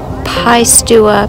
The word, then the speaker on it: Piestewa: is the summit of Pais to a peak and you spell that just the way it sounds pi p IE stu